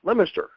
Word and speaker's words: Leominster: She's from outside of Boston in a town called Leominster, and it's actually spelled Leominster, but I've been around Massachusetts enough to know it's pronounced Leominster.